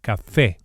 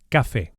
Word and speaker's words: café: And we emphasize the e vowel on account of the accent, which indicates the stress, the strong syllable, un café, and not café.